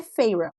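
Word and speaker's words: Feyre: Ai, gente, eu já já falando sobre isso, eu não me conformo que Feire é Feira. Não, para mim é Feire e vai continuar sendo Feire, porque eu leio Feire e eu tô no Brasil, então eu vou abrasileirar tudo.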